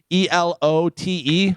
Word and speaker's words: elote: ELOTE.